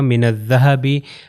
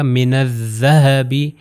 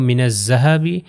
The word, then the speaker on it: الذهب: کی طرح تلفظ ہے، یعنی اوپر اور نیچے والے دانتوں میں زبان تھوڑی سی باہر آئے گی، زبان جب باہر آئے گی تو ہوگا من الذهب، ذهبی۔ اگر میں کہوں من الذهب جو زے والے سے